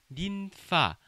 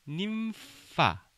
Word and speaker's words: ninfa: 우리 저번에도 한번 얘기했는데 NF, NV 이런 발음들은 님파 이렇게 발음하지 마시고 아랫입술을 윗니빨에 갖다 대는 님파 하셔야 합니다.